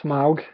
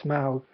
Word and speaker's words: Smaug: uh the desolation of smog smog is that how they're pronouncing it I always thought it was smog I guess it's smouth um is a mostly